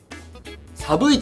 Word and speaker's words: 参弐壱: いうことでえっと 3 あ違うわサブイって読むんですねサイ 321 サブ 1